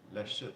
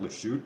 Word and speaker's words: La Chute: I grew up speaking French and everything, and I know it's pronounced La Chute, not Le Chute, but I just have this.